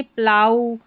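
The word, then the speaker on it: plough: जैसे यहां पर देखें ओ यू के बाद में जी एच है। तो यहां पर इसको प्रोनाउंस किया बाऊ तो ये जी एच को प्रोनाउंस नहीं किया है। यानी जी एच का उच्चारण नहीं हुआ। साइलेंट हुआ। ओ यू के बाद में है। इसलिए यहां देखिए प्लाऊ यह है। यहां पर ओ यू के बाद में जी एच है। क्या है? जी एच यहां पर साइलेंट है।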